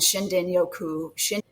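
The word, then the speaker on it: shinrin-yoku: And Shindinyoku, is spelled with an R, but pronounced with a D in the Japanese language.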